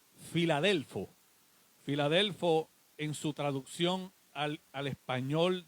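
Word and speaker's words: φιλάδελφος: filadelfia viene del griego la palabra original se pronuncia filadelfo filadelfo en su traducción al español de nosotros lo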